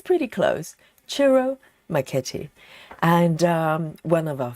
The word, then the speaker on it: Ciro Marchetti: Of course, today is our Chiro Maketi. I finally learned how to pronounce the name properly. I think it's pretty close. Chiro McKetti and um one of our favorite artists in